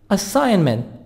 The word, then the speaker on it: assignment: stays up late project assignment assignment G silent assignment library a place where